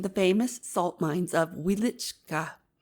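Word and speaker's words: Wieliczka: famous salt mines of wielichka you must pronounce it with the accent on the second syllable I'll write you from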